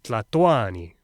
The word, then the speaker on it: Tlatoani: In the old days, they said, Mexicatl, Tlatolli, Tlatoani. Oh, and they stressed the second to last syllable, Cuicatl, Hueyi Tlatoani.